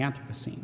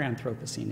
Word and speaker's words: Anthropocene: to the idea of the anthrop the anthropos scene or anthropos scene if you prefer that pronunciation uh decreased biodiversity uh